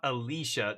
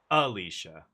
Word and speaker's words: Alicia: Not Alicia. Not the emphasis on the middle syllable, but on the first one. Alicia.